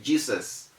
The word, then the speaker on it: Jesus: do not say desire how do you mention j e s u s a lot of people say jesus but the rule says the word should be mentioned as jesus it has that z sound because the s is between e and u you see how passionate